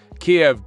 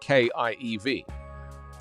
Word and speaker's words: Kiev: Kiev digs in as NATO bolsters forces.